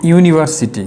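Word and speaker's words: university: হওয়া সত্ত্বেও আমরা এখন ইউর উচ্চারণটা কীরকম? ইউনিভার্সিটি। এই শব্দটার উচ্চারণ আমরা কীভাবে করতেছি? ইউনিভার্সিটি। ইউর উচ্চারণটা ইউর মতো হয়ে গেছে, এই যে ইউর মতো।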